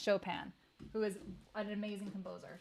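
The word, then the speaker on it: Chopin: my stream that's one thing you got to pronounce right and then you can't say choen either that's really bad I think most people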